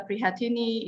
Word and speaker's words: Prihatini: My name is Prihatini. It's just the way how you write it, the way you pronounce it. No drama, no tricks.